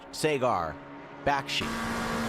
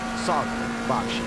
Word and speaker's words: Sagar Bakshi: Are you aware that your beloved broadcaster and commentator, Sagar Bakshi, his name is not pronounced Sagar Bakshi. It's Sagar Bakshi.